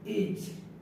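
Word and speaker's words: H: এইচ এর উচ্চারণটা এইচ, alphabet pronunciation. এইচ এর উচ্চারণটা হর মতো নিতে হবে, হ। কখনো এইচ উচ্চারিত হয় হ, আর কখনো এইচ উচ্চারিত হয় হর্নস্টি ইত্যাদি।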